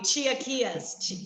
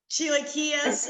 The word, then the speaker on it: chilaquiles: They had okay, I'm going to butcher the name, so someone help me. Chilaquiles. Is that it, Heather? The chilaquiles?